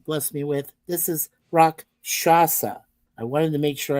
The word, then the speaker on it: Rakshasa: This is Rakshasa. I wanted to make sure I pronounced it correctly. Rakshasa.